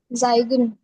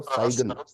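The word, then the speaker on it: zeigen: जाइगन। जाइगन साइन नहीं है, इसको सही प्रोनाउंस करो, साइगन।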